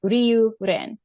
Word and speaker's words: Ryuren: And then as far as Ryuren, she said Ryuren is two syllables, like Ryuren. Ryu's kanji for dragon, kind of like in the name Ryusei.